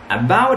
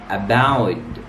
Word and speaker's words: about: Number one, about an hour, about, don't say about. Why? Because the ta sound here comes between two vowels, so we pronounce it da sound.